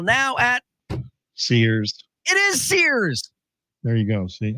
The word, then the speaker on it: Sears: It is Sears. There you go. See, I just figured it had to be a one syllable.